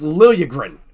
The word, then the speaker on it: Liljegren: You know how J's work in that language. It's Liljegren. Pronounce it correctly, please.